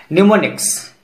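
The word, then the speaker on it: mnemonics: silent letter M, निमोनिक्स, इस word को Greek से लिया गया है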